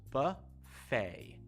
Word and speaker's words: buffet: This one's a little bit tricky because you don't say the T at the end of the word, just buffet, almost like F-A-Y.